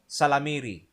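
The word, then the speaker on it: ysalamiri: These are called Salamiri. Salamiri. It's spelled YSI.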